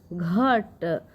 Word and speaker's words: घट: ठीक है, क्योंकि बच्चों यहाँ पे लास्ट में अ का उच्चारण नहीं निकलता है। तो इसकी मीनिंग क्या लिखाएगी बच्चों, GHAT। ठीक है, घट।